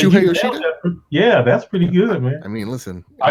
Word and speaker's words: Shuhei Yoshida: Wow, you nailed that pronunciation. So what's his name again? What's that? I said Shuhei Yoshida?